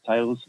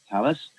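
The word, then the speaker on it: Thales: who tell us are it's pronounced tell us a lot of people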